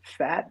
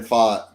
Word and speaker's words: Pfaadt: Fat? How do you pronounce that? Oh, Brandon Pfaadt.